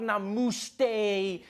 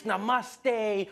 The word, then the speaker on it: namaste: People were coming on like, dude, it's not namuste, it's namaste.